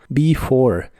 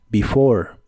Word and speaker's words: before: before que significa antes la primera e se pronuncia como I y la e del final no se pronuncia before before y usaremos la frase